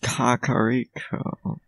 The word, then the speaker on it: Kakariko: So apparently it's pronounced Kakariko.